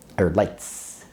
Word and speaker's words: Leitz: Ernst Leitz, or Leitz, to get the German pronunciation right, started an optics company in 1869 in Wetzlar, Germany.